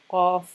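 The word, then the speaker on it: ق: It's at the back, at the top of the throat. And you say qa, qa, and you should be able to hear an echo in the room if you say it correctly.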